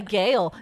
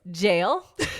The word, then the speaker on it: gaol: something new every day g a o l in Ireland is jail interesting there you go